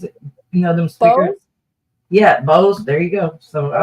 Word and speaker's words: Bose: Yeah, Bose.